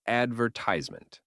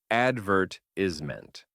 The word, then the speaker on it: advertisement: In the US, it's advertisement. In the UK, it's advertisement. Then there's the classic tomato. Americans say tomato.